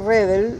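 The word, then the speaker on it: Redl: El apellido Redel, escrito sin la segunda E, es decir, R-E-D-L, pertenece a una serie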